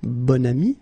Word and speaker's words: bon ami: Okay, and then you pronounce it bon ami when you make this link.